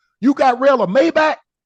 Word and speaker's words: Maybach: The way the Germans, the engineers, and the way the Mercedes, yeah, they pronounce it Maybach.